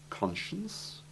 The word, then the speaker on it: conscience: And you must note that although the combination SC has the simple soft C sound in science, prescience, and omniscience, It has the SH sound in conscience, possibly because this is the sound it has in the connected words conscious, unconscious, and conscientious.